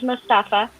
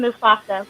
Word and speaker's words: Mustafa: I call him Most, and that's an inside thing because my friends could never say his name. His name was Mustafa. We used to have these group chats. And she kept calling him Mufasa, which was hilarious.